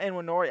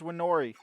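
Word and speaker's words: Nwaneri: young guy Ethan andori it's not Inori I mispronounced his name completely there it's warnori his his last name or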